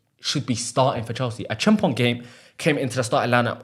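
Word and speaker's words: Acheampong: A Chimpong came into the starting lineup and looked very good. A Chimpong. Joshua Chimpong. That's how you say it.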